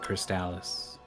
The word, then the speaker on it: Crystalis: Crystalis where it's like there's there's five ways to pronounce this and they're all valid except I'm gonna raise an eyebrow if you don't call it crystallis and I don't shake